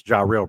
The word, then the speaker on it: Jairell: And I think I pronounced his name wrong. It's Jairell Brock. I don't know why. I think I said Jaheim, but it's Yeah, Jairell Brock. Jairell, it gets, there's like a slight draw in the eye sometimes, or a short eye sometimes.